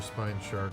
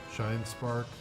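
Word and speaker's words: Shinespark: see her in her spine shark form shine spark shine spark I always say it wrong d oh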